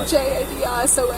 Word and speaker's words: Jadison: My name's Jadison. How do you spell it? Jadison. So Hold it's on, like hold on. It's like Madison, but with a J.